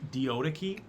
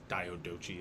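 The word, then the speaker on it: Diadochi: I don't know uh they called it uh the deodaki d-i-a-d-o-c-h-i it's diodochi is how it's kind of spelled but these are the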